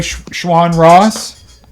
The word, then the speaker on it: Schwan Ross: To Tommy Slanker, Shawn aka Shawn Ross. Am I pronouncing that correctly? Yep. Yep. aka Shawn Ross.